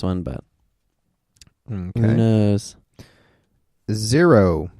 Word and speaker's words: Xero: Xero. Xero. Xero. Spelled with an X.